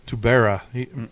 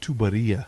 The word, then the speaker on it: Tuberia: The way it looked, I was Tubera. John's like, what'd you say? I said, Tubera? He goes, it's Tuberia.